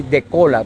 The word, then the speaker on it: Décola: Por eso estoy aquí con el doctor, él es abogado, Giovanni De Cola, pero tiene acento en la OA, porque es de origen italiano, Vázquez, ¿verdad, doctor?